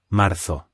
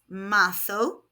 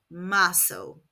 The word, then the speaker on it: marzo: In European Spanish, Z is pronounced th, so this is marzo. In Latin American Spanish, Z is pronounced s, so this would be marzo. I speak European Spanish, so I will be saying marzo.